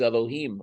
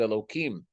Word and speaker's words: Elohim: So the name that is used is Elohim, or the way we pronounce it, Elohim.